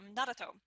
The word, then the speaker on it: Naruto: Oh well, I started writing in Naruto.